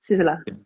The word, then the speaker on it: Sissela: Uh, so it's basically Sicily with an A. Sisilla.